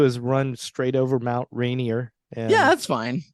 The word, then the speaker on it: Rainier: put the uh emphasis is it on Rainier or is it Rainier be like right near right near second syllable okay yeah I gotta